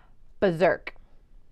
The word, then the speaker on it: berserk: a little crazy and I think the pronunciation is different than the letters but we say berserk Oh sake you follow